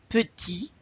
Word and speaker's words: petit: Petit, you don't pronounce the T there. Petite, petite.